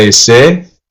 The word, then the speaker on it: ese: ¿Qué pasa, ese? What's up, bro? So, ese, pronounced e-se.